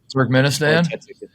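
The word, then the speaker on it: Turkmenistan: That's the correct pronunciations. Turk Ministan. Turk Turk Menistan.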